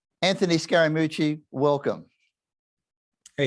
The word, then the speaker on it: Scaramucci: was a pejorative but that's the third syllable of my last name and i had a